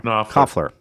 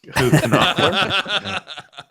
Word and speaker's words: Knopfler: Knopfler.